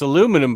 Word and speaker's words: aluminum: Australians say aluminium. Aluminum. Yeah, it's aluminum, but they add an extra I to it and say aluminium.